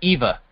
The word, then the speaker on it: Iva: I Z I'm sorry Eva you pronounce it Eva but it's actually I V a T a l a